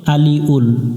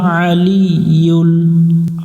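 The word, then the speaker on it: العلي: সাথে ইউল আলিউল আলিউল এখানে অনেকজনে ভুল করে আলিউল আলিউল বলা যাবে না আলিউল ওয়াহুয়াল আলিয়ুল আ গলা চাপতে হবে জিম মিলবে মিমের সাথে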